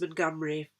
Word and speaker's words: Montgomery: colin montgomery and it's the scots surname montgomery pronounced montgomery for obvious reasons there's